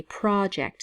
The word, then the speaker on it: project: and in this case in the case of a noun we say project so the emphasis is on the first syllable Pro so project when it's a verb this the emphasis is on the second syllable project gate project and